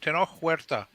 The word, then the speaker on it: Tenoch Huerta: So obviously, Namor was cast in the film by I cannot pronounce his name for the life of me. Tenoch Huerta.